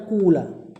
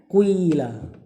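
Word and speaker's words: قيل: Walaupun ada yang baca qila ada yang baca. Nah, ini pertengahan nih. Dan yang paling yang paling jarang bacanya kula sebagian kabilah. Nah, yang paling yang paling apa? Yang paling masyhur bacanya kila ya. Pertengahan kuila. Jadi mulutnya dibonyongin dikit kayak kecampur.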